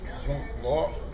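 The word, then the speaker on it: 中国: But in the Chinese language, the country is pronounced Zhongguo.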